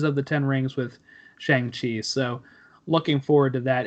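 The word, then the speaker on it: Shang-Chi: 9th of next year Shang Chi actually I think it's pronounced Shan shei as Kevin foge said it and the legends of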